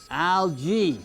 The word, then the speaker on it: algae: Algae. Very good. The soft G.